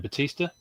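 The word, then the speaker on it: Bautista: Um I finally got I did finally get a Dave uh I never know how to pronounce his name. Batista.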